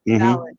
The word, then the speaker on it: Fallon: that her and Fallon, did I say it right this time? Fallon, you said failing before like Fallon.